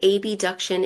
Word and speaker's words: abduction: And then we have abduction and adduction. Now, the proper way to say this is abduction and adduction. Whenever I am teaching or talking about it, I often say abduction or adduction, just to clarify so